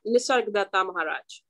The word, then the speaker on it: Nisargadatta Maharaj: So the going back to that book, I Am That, how do you pronounce his name? I always mess it up. Yeah, Nisargadatta Maharaj.